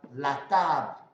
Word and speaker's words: la table: So let's see, here we can have la table, la table, la table. So you see, it's only the L, the BL that is sounding at the end.